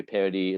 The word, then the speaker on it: Paradis: that's listening is p-a-r-a-d-i-s it's it's it's pronounced Paradis but it's spelled like paradise like radical i always say i always say paradise without the e yeah exactly that's great